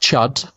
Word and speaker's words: C.H.U.D.: It's pronounced Chud, but it's C.H.U.D.